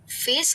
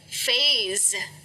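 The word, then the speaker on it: phase: फेस कहोगे तो ये तो चेहरा हो जाएगा ना, इसलिए इसे कहेंगे फेज। तो ये जो एस है ना, इसको ज की तरह प्रोनाउंस किया जाता है।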